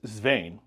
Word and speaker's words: Swain: It's a Nordic derivation or original origin for my last name, which is Swain, S-W-A-I-N. But Swain, if you spell it phonetically, it's S-V-Y-E-N.